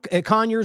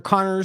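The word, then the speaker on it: Conyers: I mean genuinely con Conor or Connor I've heard people pronounce it both ways GE Georgia so the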